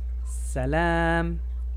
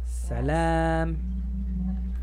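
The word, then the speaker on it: سلام: Salam, L A, L A, salam. So, no se dice salam rápido, salam, así no. Salam, extiende la A.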